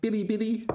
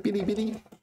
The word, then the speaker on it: Bilibili: And you pronounce it first tone.